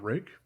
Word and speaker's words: Ruike: I don't necessarily know why they went with the name Rake, but yeah, I suppose it works.